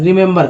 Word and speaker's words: remember: रिमेंबर में 3 ई है, 1 2 3, 3 ई है, और तीनों का अलग अलग उच्चारण हो रहा है। देख रहे हैं, पहला ई का उच्चारण छोटी के रूप में, दूसरा ई का उच्चारण